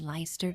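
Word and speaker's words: Leicester: It's pronounced Lester basically.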